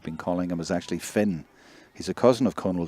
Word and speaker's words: Fion: So, it's Finn even though it's spelled F I O N. I always thought that was Fun, but it's Finn.